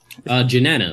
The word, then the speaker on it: Jennana: Janana, like Jenny and banana.